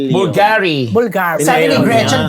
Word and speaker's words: Bulgari: Bulgariana. Anong pronunciation? Bulgari.